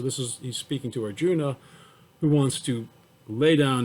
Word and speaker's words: Arjuna: your body arjuna so arjuna is spelled a r j u n a but uh most hindus say arjun they don't pronounce the final a but i usually do because i i see it there sit even to maintain